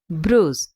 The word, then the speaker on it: bruise: First one ப்ரூஸ், BRUISE. நம்ம இதை pronounce பண்ணுறது ப்ரூஸ் அப்படின்னு தான் சொல்லணும்.